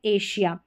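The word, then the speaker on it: Asia: यहाँ पर एस को हम श पढ़ते हैं, जैसे कि प्रेशर, विजन, विजन, और ये है एशिया।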